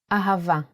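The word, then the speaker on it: אהבה: to write it down a pronounced ha remember the sound here is V so we don't need a DOT of bet pronounce a let's do it once more in handwriting ahava ah isn't it a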